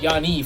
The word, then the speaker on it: Giannis: Or actually, not Giannis, Yanni, for all the Greeks listening. Because you do not pronounce the S. Otherwise, it's like saying John's.